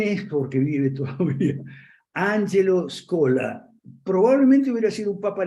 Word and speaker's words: Scola: era el cardenal Angelo scola se escribe Así como se pronuncia es cola cardenal Angelo scola podría